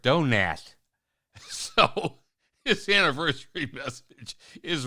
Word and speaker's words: Donat: He said, it's not Robert Donat. He corrected me and said, it's Robert Donat.